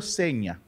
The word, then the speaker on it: Signa: que se llama hermenegildo seña se escribe signa pero se pronuncia seña de entrada a hermenegildo